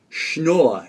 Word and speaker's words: Schnor: time, but my name is very hard to pronounce. So if you're out there, my name, William, is Schnorr.